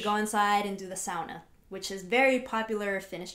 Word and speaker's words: sauna: And I pronounce sauna because that's... Oh, because she's Finnish. She's Finnish now. That's the proper way to pronounce it. Do not say sauna.